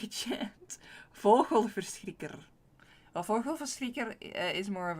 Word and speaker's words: vogelverschrikker: It is vogelverschrikker. That's like the original one. Vogelverschrikker. But I sometimes like to do like a soft G. Because it's fun. And a soft G is more Belgian, like Flemish, or the south part of the Netherlands.